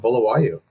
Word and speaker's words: Bulawayo: think she was mentioning that we went to Bulawayo, I believe. Yeah. That's how you pronounce it.